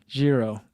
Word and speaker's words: Giro: Giro is how it's pronounced. Okay, I'm learning. You guys are Givenchy, we talked about on Tuesday, and now Giro. They just don't like regular G's in Europe.